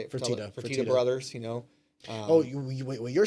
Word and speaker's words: Fertitta: a lot of money, kind of like the Fertella, or how you say it? Fertitta brothers, you know.